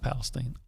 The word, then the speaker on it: Palestine: Which it is pronounced Palestine.